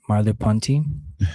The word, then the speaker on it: Merleau-Ponty: Merleau-Ponty.